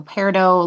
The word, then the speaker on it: Peridot: I'm Peridot. So Peridot, like the gemstone, like the birthstone.